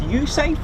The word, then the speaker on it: USAFE: Force in Europe based to be exact pronounced usafe as well um although it is